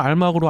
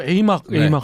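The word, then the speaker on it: AMARC: 뭐 여러분들은 많은 분들은 알막으로 알고 계실 거고요. 또 이제 본토 발음으로 에이막 하죠. 에이막.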